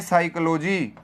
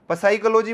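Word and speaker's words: psychology: KNIFE को कनाइफ बोलना चाहिए, ये साइकोलॉजी को पसाइकोलॉजी बोलें, फिर पसाइकोलॉजी कनाइफ।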